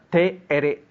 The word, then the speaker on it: tray: Porque se deletrea T-R-A-Y. Pero no se dice try. It's tray.